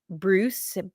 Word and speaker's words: Breus: There is a gentleman, Dr. Bruce, and I believe it's spelled Breuss.